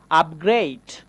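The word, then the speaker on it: upgrade: ঠিক তেমনি করে বলতে পারি আপগ্রেড। আপগ্রেড। এই যে এই বানানটা একটু খেয়াল করতে হবে। আপগ্রেড বানানেও আমরা ইউ পেয়েছি। তারপরে কিন্তু পরপর দুইটা কনসোনেন্ট পাচ্ছি। এই যে পি এবং জি পরপর দুইটা কনসোনেন্ট আছে।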